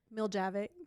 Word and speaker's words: Miljavac: Miljavic.